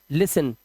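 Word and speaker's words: listen: अब देखिए कैसे यहां पर देखिए टी एन आया तो इसे पढ़ते हैं लिसन। क्या पढ़ेंगे? लिसन टी साइलेंट है।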